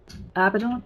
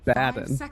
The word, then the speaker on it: Abaddon: If it were an English word, you would be saying it correctly, because the emphasis would be on the penultimate syllable. But everybody says it's Abaddon, so that's the way you gotta say it, apparently.